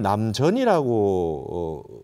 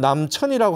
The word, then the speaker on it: 남전: 남전 참요했을 때 그 우리가 발음을 남전이라고 그 얘기하잖아요 그러니까 이게 셈 천 자지 않습니까 이걸 남천이라고 하지 않고 왜 남전이라고 합니까 그러니까 우리가 이게이 한자나